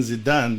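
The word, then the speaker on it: Zidane: way to appreciate uh Z zadin if I pronounce him his name right Zen zadin zidan yes the famous soccer player once said um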